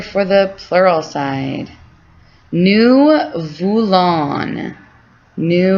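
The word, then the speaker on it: voulons: the plural side new vulon new vulon so you don't say the s that means we want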